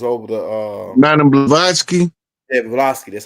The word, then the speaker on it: Blavatsky: Yeah, Blavatsky, that's how you say her name.